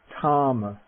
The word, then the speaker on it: thāma: the or that just despite asper aspirated form the word for strength tom tom tom okay the